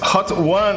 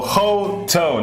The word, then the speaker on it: Hotone: Dirt Farmer is asking, is it pronounced hot one or hot or Hotone? No, none of them. It's Hotone. Hotone.